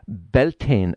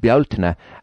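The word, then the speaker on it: Bealtaine: and it is associated with the festival of beltane as it's pronounced in in the us but beltner as we know it in ireland and it's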